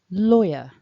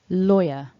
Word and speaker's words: lawyer: way that it's written you don't want to pronounce that w it's silent so please don't say so that's the top tip for today silent w lawyer if you found that